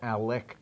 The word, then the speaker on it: Alec: Why doesn't the lovely Miss Tia tell us all about the Alex Bradley American classic Gordo? Gordo. The wrapper Tell us about the ALEC. ALEC. Was he saying it wrong?